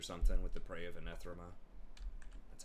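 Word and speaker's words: Anath Raema: can help me kite out lords or something with the Prey of Anethrema. That's how you pronounce it.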